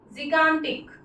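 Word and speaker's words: gigantic: इसका प्रोनाउंसिएशन होता है जिगैंटिक। जिगैंटिक क्या होता है प्रोनाउंसिएशन, जिगैंटिक।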